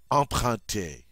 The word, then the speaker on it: emprunter: All right, number 20, emprunter. Emprunter. I love it because it's got those two nasal sounds.